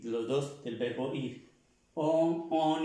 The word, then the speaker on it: on: La N con la O y la N. Es un sonido nasal, como si pronunciáramos la O, pero no es la O. On. Como si nos tapáramos la nariz. Más o menos, como si nos tapáramos un poco la nariz para pronunciar esta on.